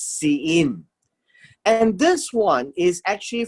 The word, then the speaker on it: Sinim: the land of Sain," or Sein. This is how it's pronounced. It's Sein.